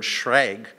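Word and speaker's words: schräg: know it's too bad German has this great word Schrag one syllable boom it's like and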